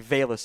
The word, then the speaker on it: Velus: I got better receivers on the boards than it's actually Velus. I mispronounced it earlier.